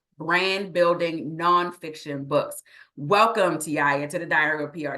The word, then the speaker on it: Taiia: Make sure you say it right. It's Taiia. You might see it spelled one kind of way, but it is Taiia.